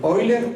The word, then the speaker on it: Euler: cálculo infinitesimal junto con oiler o Euler como ahí se escribe y el príncipe de